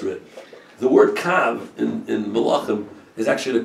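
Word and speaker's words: קוה: That's the way it's written, but it's pronounced kav, which is kuf vav.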